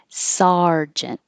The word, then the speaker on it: sergeant: sounds like er surgeon this looks like an er but it sounds like ar sergeant sympathy sympathetic despite